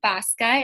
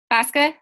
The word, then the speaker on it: Baska: special guest we have Deb bosca is how you say your last name bosca you're muted say yes